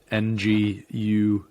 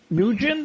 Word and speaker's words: Nguyen: last name sometimes they'll pronounce it as you like when or like the name wen n-g-u-y-e-n it's i believe a vietnamese last name well yeah it's sort of like uh and i'm going to pronounce it wrong because that's kind of point but uh nguyen yeah nugent new win how do you that's